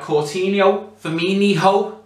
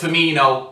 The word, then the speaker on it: Firmino: to attack we had Cino fho oh it's firmino I know I know